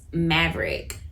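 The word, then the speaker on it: Mavrck: on there another platform that I use is Maverick um so Maverick and I'll put that it's spelled m a v r c k Maverick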